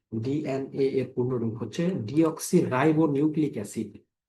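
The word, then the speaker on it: deoxyribonucleic acid: Dean এর পূর্ণরূপ হচ্ছে ডিঅক্সিরাইবো নিউক্লিক এসিড। স্লেবল ভেঙ্গে উচ্চারণ করবেন তাহলে খুব সহজ হবে।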